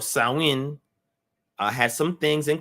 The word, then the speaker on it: Samhain: a harvest festival called saowin each phone i know some of them says samhain but that's not how you say it in the gaelic language right samhain or sawin uh has some things